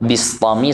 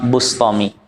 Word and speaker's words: Bustami: Bacanya bisa 2. Bistami sama Bustami. Rahimahullahu ta'ala.